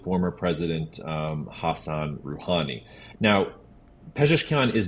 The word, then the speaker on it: Pezeshkian: And John, I'm so glad that you let me look up how to pronounce this gentleman's name as I'm introducing him. So Masoud Pezeshkian, a former heart surgeon, will become Iran's next president.